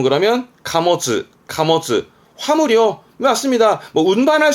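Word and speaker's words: 貨物: 발음은 그러면 카모츠.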